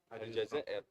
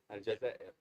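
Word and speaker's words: الجزائر: How do you say? Algeria. Aljazair. In Arabic, Aljazair. Aljazair. In Italian, we say Algeria. Algeria. Yeah. In English, like in English, Algeria. Yeah. In French, Algerie.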